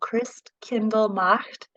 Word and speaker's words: Christkindlmarkt: So the name of the organization is Carmel Christkindlmarkt. And I always say it like Chris, the name of a guy, and then Kendall, like the reader.